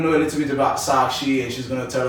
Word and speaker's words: Sakshi: Am I pronouncing it correctly? Yes. Okay, we're going to know a little bit about Sakshi and she's going to tell us a little